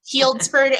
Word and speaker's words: Healdsburg: you might have to correct me if I'm mispronouncing that that's exactly right Healdsburg okay where she currently resides with her husband